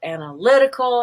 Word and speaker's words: analytical: is in the word analytical it's on the y it's silver everything else is schwa hope that helps thank